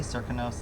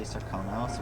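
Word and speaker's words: Serkonos: now some people say circa nose and some people say sarconos which is really interesting i find just showing the fact that it has multiple pronunciations forget about that kiss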